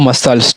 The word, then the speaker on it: muscle: फिर अगला है MUSCLE, क्या हुआ, ये MU से माँ और CLES, क्या हुआ, मसल्स। ठीक है, ये मसल्स जाके बना, और ये हमारा सीजर्स है।